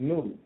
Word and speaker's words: Nod: the land that was called Nod, pronounced Nud, which means wanderer.